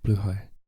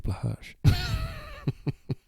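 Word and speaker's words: Blåhaj: See, Swedish people say blue high. Trans people say Blahaj. It's like you got Blahaj, and then you got correct pronunciation, and you got like trans people. It's like, yeah, you're in the know, and then you're in the know. Yes, so that Nordic people say it the correct way.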